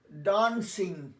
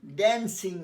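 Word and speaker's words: dancing: আচ্ছা, উচ্চারণটা আমার উচ্চারণ লক্ষ্য করো, স্টার্ট ডান্সিং, ড্যান্সিং নয়, আর স্টার্ট নয়, স্টার্ট।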